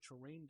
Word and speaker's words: Turin: I know in English you're supposed to pronounce it Turin.